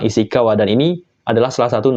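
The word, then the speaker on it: 石川: kayak gini ya Minasa dia akan dibaca isikawa kunyominya ya minasang isikawa dan ini adalah salah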